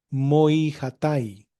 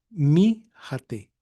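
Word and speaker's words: μοιχᾶται: Y esto en el buen erásmico sería moi hatai, ¿sí? Pero en el griego, como el griego se pronuncia modernamente, se pronunciaría mi jate, mi jate.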